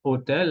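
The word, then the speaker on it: hôtel: Alors, hotel, de manera aislada, hotel, la H es muda. Pero ahora, juntos, a y hotel, vamos a decir un hotel, ok.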